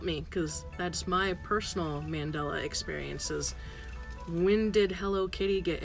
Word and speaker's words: Mandela: yeah no but yeah share your mandala Mandela effect I keep saying it wrong Mandela effect experiences we